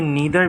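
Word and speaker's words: neither: ईदर भी हो सकती है और आइदर भी हो सकती है, ठीक है। ये नीदर भी है और नाइदर भी है, डिफरेंट प्रोनाउंसिएशन, इसकी 2 प्रोनाउंसिएशन हो सकती है, ठीक है।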